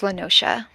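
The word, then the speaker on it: La Noscea: no that is not how I would have pronounced that word yeah it's lenosha very it's like a tropical kind of beachy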